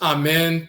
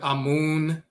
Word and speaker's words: Amen: On one of the pages on our website, So this is Amen. They'll often mispronounce his name and misspell it Amun or Amon and so forth.